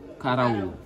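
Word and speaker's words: karaw: Alors ça, on appelle ça, je vais épeler les mots pour que vous puissiez prononcer. K-A-R-A-W. K-A-R-A-W. Karaou.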